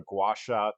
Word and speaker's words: gua sha: Um and here she's using a gouacha tool that's spelled gua.